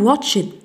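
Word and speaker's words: watched: وي هاف واتشد واتشد نقول تي واتشد وأن وكأنك تنطق تي.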